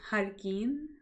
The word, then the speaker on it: Jarquin: It's Jarquin. Hi, Queen.